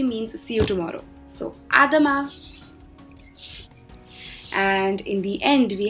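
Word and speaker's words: à demain: salutation over there it's a dhamma again over here the n is not pronounced it's all silent so it's a dhamma which specifically means see you tomorrow so adama and in the end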